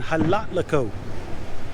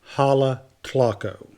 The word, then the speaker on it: Jalatlaco: here we are in Halle click Oh think I'm pronouncing that right it could be a lot